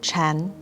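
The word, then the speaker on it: 禪: parent and child zen in mandarin chinese sakata and zen are both pronounced chan wu uses sakata as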